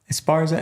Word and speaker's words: Esparza: If I say Esparza, am I pronouncing your name properly? Esparza.